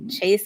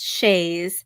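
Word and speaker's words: Chaise: It's Chase, but spelled like the French word for chair. Yeah, your name is not Chase, it's Shays. Chase. It's a Chase lounge.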